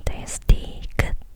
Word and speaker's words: 디귿: [d] và tên của phụ âm này[ㄷ] là 디귿 và ㄹ âm the Tên của cái